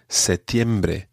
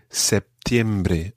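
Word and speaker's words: septiembre: word is for september in some parts of the spanish-speaking world people say cetimbre in other parts people say september and have a small p sound in the middle and indeed it's spelled some cases with the p and in other cases without the p so it's fairly optional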